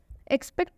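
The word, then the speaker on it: expect: एक्सपेक्ट में भी एक्स के बाद से पी आया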